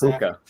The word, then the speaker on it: Puka: It's Puka. That's right. It's Puka. How do you pronounce the last I'm name?